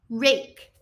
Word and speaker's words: rake: What are we going to do about that silent E? Does it make a sound? It does not.